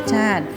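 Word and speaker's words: รสชาติ: ออก เสียง นะ คะ รส ชาติ อ่าน ว่า รส ชาติ ภูมิ ใจ อ่าน ว่า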